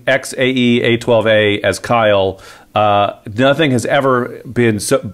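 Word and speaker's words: X Æ A-12: X is the Greek for chi, as right. In like chi, beta, like whatever. Sigma chi. Yep. Yeah. AE is pronounced AI, as in the AI of Kyle, the Y. Yep, like chi. Yeah. Right. The A12 is the 12th letter of the alphabet, which is L.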